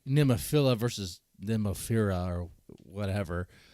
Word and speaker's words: Nemophila: but it's like well the band members pronounce it like name of fira I mean like I say just pronounce it like nimafila like make pronounce it the best way you can you know definitely don't do nemophilia okay you know that's like if